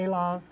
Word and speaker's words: Heloz: So now, Heloz Creative, am I pronouncing that right? Yeah. Heloz? Heloz. Oh, Heloz. Heloz. It's basically a breakdown of my name.